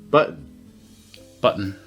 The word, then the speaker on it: button: Button. But not button. The double T in the middle of the word is not a D in American English. It's the glottal stop.